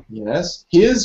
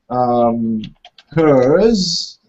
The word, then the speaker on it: here's: Yeah, this is quite difficult for learners because they might pronounce it as... hers. Hers. See, if you look in the chat, I'm typing hers. Hers. Yeah, that's different. Hers, it means that it's possessive pronoun. It belongs to her.